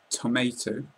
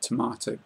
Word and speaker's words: tomato: In America, people might pronounce this tomato, but we normally pronounce it tomato in the UK.